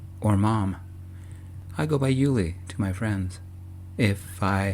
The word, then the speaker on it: Uli: I go by Julie to my friends if I had any. My case worker says I should be positive. So, uh, when I have some, I guess. My name rhymes with Julie.